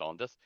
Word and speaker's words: Andith: Raressa Ondith, spelled Andith, pronounced Ondith, is a plump, short, middle-aged woman of shrewd intelligence and withering sarcasm.